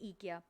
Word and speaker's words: IKEA: Sorry, यहाँ पर वैसे आइकिया होता है, लेकिन यहाँ पर उसको प्रोनाउंस करते हैं ईकिया, तो प्लीज़ ज़रा इसको इग्नोर कीजिएगा।